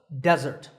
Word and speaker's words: desert: an F sound and with the stress on the first syllable desert desert with an e